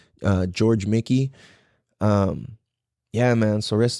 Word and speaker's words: Mique: So, his last name is spelled M I Q U E. Uh, George Mickey.